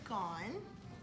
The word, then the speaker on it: gone: have to memorize it, because it does not look, does not look the way it sounds when it's spelled out.